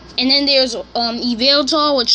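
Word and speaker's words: Yveltal: and then there's an available which starts with a why the why is silent and xerneas and then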